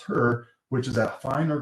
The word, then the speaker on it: HRRR: And then we have the high resolution rapid refresh, which we pronounce HRRR, which is at a finer grid resolution.